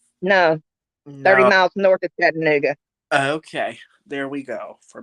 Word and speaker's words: Chattanooga: you from chattanooga no 30 miles north of chattanooga okay there we go for malibu barbie okay